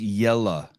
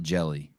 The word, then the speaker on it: Jelle: Name is pronounced Jelle, not Jelly.